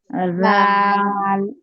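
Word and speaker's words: ر: র, র, র, র, রর উচ্চারণ হবে, মানে ওই যে বলছিলাম আপনাদেরকে, জিহ্বার আগার পিঠ, জিহ্বার আগা দিয়ে উচ্চারণ করবেন না, জিহ্বার আগার পিঠ হবে, জিহ্বাটা একটু উল্টিয়ে উচ্চারণটা হবে, হ্যাঁ, জিহ্বার আগার পিঠ উপরে তালুর সঙ্গে লাগবে।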